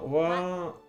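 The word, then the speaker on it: は: Like, this is the symbol, the syllable, the letter, whatever you wanna call it, for ha. But if it's the particle in the middle, then it's pronounced as wa.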